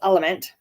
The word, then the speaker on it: LMNT: of my favorites is the element it's lmnt um pronounced element another study I researched